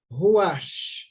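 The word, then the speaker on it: רוח: antigo testamento o responde é uma palavra Hebraica é que se pronuncia Rua então ruach é o fôlego de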